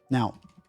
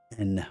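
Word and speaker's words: Н: into the English language now knowing this a letter that is very different in our language is the H and in in in Russian it is pronounced n or n all right knowing this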